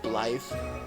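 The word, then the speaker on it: Blaidd: Kind of like how Blythe is spelled B-L-A-I-D-D, but it's actually pronounced Blythe.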